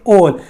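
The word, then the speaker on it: all: ऑल, देखिए बेटा इसको आल नहीं बोलते, इसको बोलेंगे ऑल। कभी भी अगर एल के पहले, कभी भी एल के पहले अगर ए दे रखा हो तो इसका प्रोनाउंस करेंगे ओ, तो ऑल।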